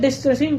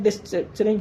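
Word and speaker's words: destructuring: कर लेते हैं मतलब ऑब्जेक्ट डिस्कसिंग कर देते हैं सॉरी मुंह से थोड़ा सा मुझसे ये प्रोनाउंसिएशन में गलत हो रहा है लेकिन इसको समझने की कोशिश करना ऑब्जेक्ट डिस्क्रिप्चरिंग ओो ऊपर जाता हूं। मैंने लिखा होगा कहीं ना कहीं यह ऑब्जेक्ट डिस्ट्रक्चरिंग। हां, यह प्रोनाउंसिएशन यह है। डे स्ट्रक्चरिंग। ठीक है? इसको ये बोलते हैं।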